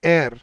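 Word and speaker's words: heir: अब इसको पता नहीं आप कैसे प्रोनाउंस करते हो, लेकिन इसकी एक्चुअल प्रोनाउंसिएशन होती है एयर। इसमें एच साइलेंट होता है, जैसे आर में एच साइलेंट होता है ना, ऐसे एयर में एच साइलेंट होता है।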